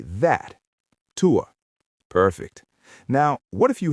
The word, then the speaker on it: tuo: Now, if something is further away, like on a shelf across the room, we say that, tuo. Student, say that, tuo.